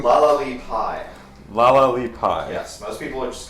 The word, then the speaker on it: La-la-li-Puy: How do you pronounce the sorceress queen's name? La Pie. Laali pie.